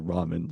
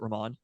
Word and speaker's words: Raman: It is it is Sonia Ramen like the food that we once for which we once but I pronounced it Raman but it's ramen.